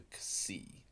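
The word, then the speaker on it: xi: That's the ksi, the ksi. And it actually is kind of, if you were to combine, say, the middle of the two words, look-see, it's ksi.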